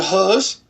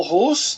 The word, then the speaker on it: Hus: Nessa igreja, Hus pregava o Rus, né? Tanto faz a pronúncia, Rus, pregava a língua do povo.